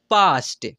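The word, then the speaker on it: past: मेरे भाई यहां पर जब ए के बाद एस टी या एस के आए तब तब भी ए का उच्चारण आ से होगा यानी आ से करते हैं ऐसे पढ़ सकते हैं फिर यहां पर देखिए पी ए एस टी इसे क्या पढ़ेंगे पास्ट एम ए एस के mask L ए एस टी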